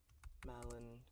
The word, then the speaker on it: Malon: Alright, so Proofer is the first time I pronounce Malin correctly.